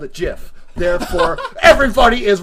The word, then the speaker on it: GIF: know proper English and it's pronounced jiff not gif okay now that is